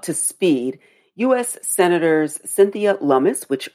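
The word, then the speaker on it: Lummis: get you up to speed US senators Cynthia lumus which rhymes with with hummus from Wyoming she's a republican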